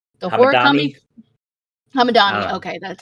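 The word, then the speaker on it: Hamedani: It was directed and co-written by American-Iranian Kevin Hamadi. I really hope I'm saying his name right. The horror comedy Hamadani.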